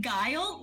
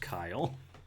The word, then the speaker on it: Guile: name is Kyle but it's spelled with a G pronounced like pile where is the g